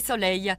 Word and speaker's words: soleil: Voyons plutôt les 2 premiers noms, oreille et soleil. La fin se prononce de la même manière, mais les graphies sont différentes. Le premier s'écrit E-I-2-L-E et le second E-I-L.